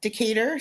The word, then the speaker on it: Decatur: I probably butchered that. Um Decatur, thank you.